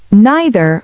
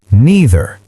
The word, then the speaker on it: neither: Neither follows the same pattern. American, neither. British, neither. Verb agreement with either and neither.